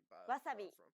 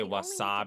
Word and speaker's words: wasabi: but don't forget that Japanese isn't a stress-timed language like English so instead of stressing the second syllable like make it even throughout try again I say